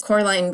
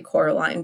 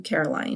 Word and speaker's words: Coraline: did I'm so sorry Coraline because you are always correcting your neighbors because they keep calling you Caroline but I really hope